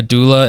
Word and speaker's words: doula: but in America, a doula is someone who helps. It's like not pronounced that way. It's not pronounced that way. It's but doula.